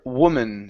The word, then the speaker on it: woman: is uh the word woman so instead of woo woman wo woman the woman agreed woman